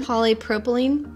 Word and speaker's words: polypropylene: food safe poine perine how do you say that word it's a science word polypropylene there you go Molly look at that